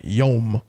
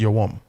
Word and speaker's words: Yom: Yom, when the real word is yawam, right?